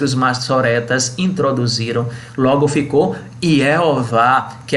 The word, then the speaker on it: Jeová: Chegou-se combinando as 4 letras consoantes do tetragrama YHWH com as vogais de Adonai, que significa Senhor, na forma como é pronunciado Edonan. Então ficou I-E-O-Vá, Jeová, o nosso Deus, aleluia.